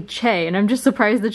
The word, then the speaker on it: Choi: it's romanized that's how that's how you would say it in English is Choi but it's actually Che and I'm just surprised